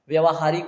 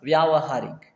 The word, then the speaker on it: व्यावहारिक: number B correct होगा व्यावहारिक ठीक है क्या होगा व्यावहारिक ठीक है तो वैसे उच्चारण में हम क्या बोल देते हैं व्यवहारिक लेकिन ये क्या होता है व्यावहारिक ठीक है व्यावहारिक कि